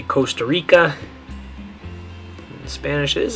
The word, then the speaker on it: costa: Now this one, some people might confuse this and think it means cost. And in English, the way you'd probably pronounce that is costa, right?